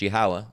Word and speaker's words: Yahweh: And then the Father's name, Yahweh, which is pronounced Yahweh, and we're going to show you that in a minute.